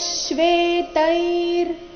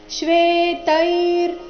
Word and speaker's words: ಶ್ವೇತೈರ್: ದಿವ್ಯೌ ಶಂಖ ಪ್ರದದ್ಮತುಹು ತತ ಶ್ವೇತೈರ್ ಇಲ್ಲಿ ಶ್ವೇತೈ ಆದ ನಂತರ ಅರ್ಧ ರಕಾರ ಶ್ವೇತೈರ್ ಅಧಿಕ ಹಯೈರ್ ಹಯೈರ್ ಹ